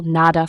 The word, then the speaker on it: nada: D is pronounced like in dog. Between vowels or at the end of a word, it becomes softer, somewhat like the TH in the, known as the fricative D. For example, nada for nothing.